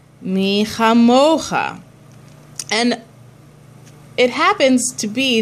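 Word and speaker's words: מי כמוכה: So again, the metig is a secondary accent to bring awareness to the syllable that needs extra care. So in this case, instead of saying mi chamocha, mi chamocha.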